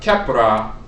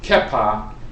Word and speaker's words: Khepra: Then you have Khepra, or Khepr, but there are different pronunciations of the name Khepra. Sometimes it's pronounced Kepa, and you have the